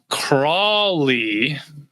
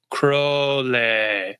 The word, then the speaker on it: Crowley: There's people that say Alistister Crawley and then people who know him, it's Crowley.